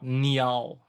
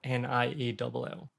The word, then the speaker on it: Niall: the north of Scotland, she would call me growing up Niall. So that would be technically the correct pronunciation of Niall.